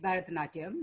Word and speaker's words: Bharatanatyam: In those poses, in the photo shoot with me, were you switching between incorporating, theater, drama, and forgive my pronunciation, but Bharatanatyam? Yes, yes, that's right, Bharatanatyam and Odissi.